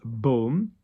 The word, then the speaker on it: baume: It's baume. Okay? B-A-U, baume.